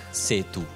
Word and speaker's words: Sethu: tu Però è aspirata No è proprio se tu come come se la h non ci fosse Se tu fossi siamo